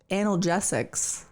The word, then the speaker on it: analgesics: pr the the prect the correct the correct pronunciation is analgesics it is there's no anal there is turns